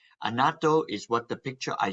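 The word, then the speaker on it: annatto: things you're going to see Palm rice and anato right as I mentioned earlier from Palm and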